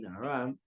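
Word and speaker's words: נערה: Even though it's spelled in the Torah just nun ayin reish, but we read it in ayin reish hey nara.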